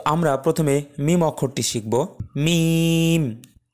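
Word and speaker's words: ميم: প্রথমে মিম অক্ষরটি শিখবো মিম মিম মিম উচ্চারণ করতে গেলে দুই ঠোঁট একটু শক্ত করে উচ্চারণ করতে হয় আমরা একটু পরে দেখছি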